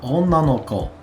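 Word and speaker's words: 女の子: Onna no ko. Onna no ko. So this is being pronounced onna in this case, no ko.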